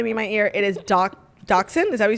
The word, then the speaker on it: Dachshund: ear it is Dachshund.